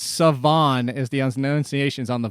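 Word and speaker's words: Salvon: By the way, did you know his first name is not pronounced that way? How it Savon? Looks either? It's not. Yeah, Savon.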